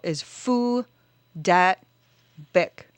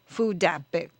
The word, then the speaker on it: Phu Dat Bic: says that name is Phu Dat Bic. Oh. But the T in Dat is not very well pronounced. It's not very well enunciated, nor is the C in Bic. So, Phu Dat Bic.